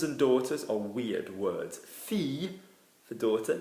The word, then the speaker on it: fille: Fille for daughter, fille. Yeah, some accents will say fille with a bounce. It's wrong, isn't it? Because we should be saying fille, like ville for city or town.